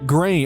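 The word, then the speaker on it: Gráinne: Pronounce it Grainne. Okay, so it is Grain or I I assume Grain. Pronounce it Grain, dear, like rain, not like that.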